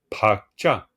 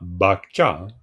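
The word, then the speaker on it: བག་ཆགས: P c'est P et écoutez bien comment on le prononce à la tibétainne pacha un tibétain nous nous parle des tendances il dira pa il dit il dit pas bacha attention il dit pa c'est-à-dire un son expiré bas hein pa les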